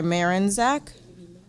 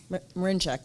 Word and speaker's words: Marinchak: and I'm sorry, Marinzak? Or please correct me and say it properly. Sorry. Marinchak, sorry. Very close.